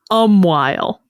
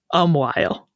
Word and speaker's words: umquhile: And I am now going to tell you that this word is pronounced Umquhile. Umquhile is how that word is spelled. And it is pronounced Umquhile.